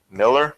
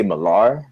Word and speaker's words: Millar: I'd say Millar because it has an A in it. Yeah. If it had an E in it, then it would be Miller. Like Greg Miller. Mm-hmm. But Mark Millar.